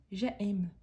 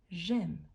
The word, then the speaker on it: j'aime: aiment elles aiment attention une erreur très grand c'est de dire j'aime non quand il y a l'apostrophe il s'agit d'un seul mot donc on doit prononcer j'aime j'aime de même on va faire